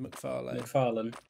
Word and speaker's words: MacFarlane: MacFarlane. MacFarlane. Seth MacFarlane. I've MacFarlane and I can't get up. I'm MacFarlane. So it's MacFarlane. I don't really put emphasis on the lane as much, but to be honest, but I don't know.